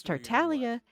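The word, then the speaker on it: Tartaglia: You're not supposed to pronounce the G in Italian. You don't pronounce it.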